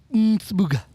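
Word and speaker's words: Nsubuga: Subuga. Brilliant. No N. N silent.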